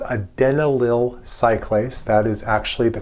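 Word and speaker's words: adenylyl cyclase: Nearby the G-proin is a membrane embedded enzyme, not a receptor, but an enzyme that's called a denal cylace. That is actually the correct pronunciation.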